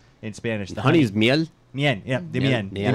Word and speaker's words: miel: The Honey is miel.